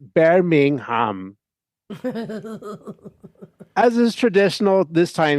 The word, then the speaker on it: Birmingham: I had ridden out of the city of Birmingham, pronounced Bingham.